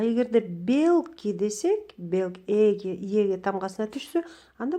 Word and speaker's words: белки: Мисалы, белки десек, бул белок деген сөздөн, белки деген белок, бул организмде эң керектүү заттардын бири, ошону көптүк саны белки дейт экен. Монда ийге түшөт ударение. А эгерде белки десек, эге тамгасына түшсө,